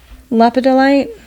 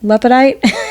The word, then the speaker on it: lepidolite: Lepidolite. I don't say it like that. That's how I read it. Okay. I just call it lepidite. Okay. Which I'm missing a whole syllable is in that there.